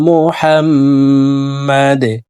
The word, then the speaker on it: মুহাম্মাদ: সাল্লি আলা সাল্লি আলা আল্লাহুম্মা সাল্লি আলা মুহাম্মাদ। অনেকে আমরা মোহাম্মদ পড়ে থাকি। মোহাম্মদ হবে না। হাফকে হলকের মধ্যখান থেকে উচ্চারণ করব।